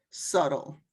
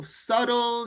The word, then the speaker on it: subtle: You never pronounce the B in this word subtle. You just read it without the B. So subtle, you have all of these.